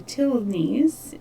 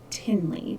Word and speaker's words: Tilney: the past several years been saying Tilney's name wrong. I had been calling them Tinley because I personally know a Tinley, but I was incorrect. So it's Tilney.